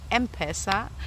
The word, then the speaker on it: M-Pesa: of m-pesa thanks for clarifying that it is pronounced m-pesa Asante Sana Each one teach one um but